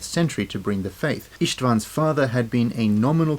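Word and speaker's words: István: The name Istvan is the Hungarian pronunciation of the name Stephen or Stefan, so if you ever visit Budapest, tourist maps will guide you to St.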